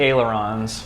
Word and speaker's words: Aileron: And how'd you say you pronounce that name? These are the ailerons.